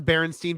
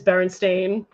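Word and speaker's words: Berenstain: I I legit like that's a barenstein bears thing for me actually bar stain bears and everyone everyone thinks it's Baron stein bears yeah it is Baron stain we were waiting when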